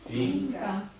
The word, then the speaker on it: un: ma non si legge né un e né una. Perché se mi dico, ho visto un cane, ho visto Inca. inca, no, un cane, non dico ho visto un cane, ho visto inca, Si scrive un Quindi, e si legge. e si legge in.